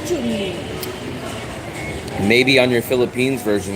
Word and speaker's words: Chun-Li: It's really Chun-Li. Everyone in America that I know says Chun. Chun. Not Chun. They say Chun. It's Japanese name. And when you play Street Fighter, it says Chun-Li.